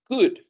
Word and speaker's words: could: el pasado diría I could Cuidado con la pronunciación la l no se pronuncia Ok decimos simplemente como una caude escribe could pero se pronuncia y va a seguir